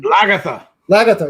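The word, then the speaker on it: Lagertha: How do you pronounce that stupid thing? Lagatha.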